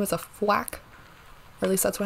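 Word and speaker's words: Fuack: his name is a flack at least that's what how I pronounce it it's f u a c k like quack but with an f and that is if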